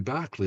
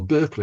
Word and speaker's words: Berkeley: And Busby Berkeley, of course, or Berkeley, I should say, Busby Berkeley, the American pronunciation, did a lot of